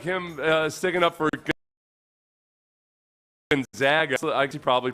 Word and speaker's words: Gonzaga: gets mispronounced you the coach of Gonzaga yeah Gonzaga I pronounced it right okay what are we saying